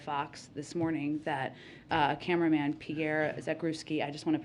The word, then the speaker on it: Pierre Zakrzewski: I also just wanted to note the news that we heard from the CEO of Fox this morning that cameraman Pierre Zakrzewski, I just want to pronounce his name the right way.